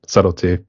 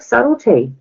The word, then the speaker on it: Subtlety: goes just call yourself subtlety and um I said all right and it's been okay but some people just pronounce the b all the time you know and um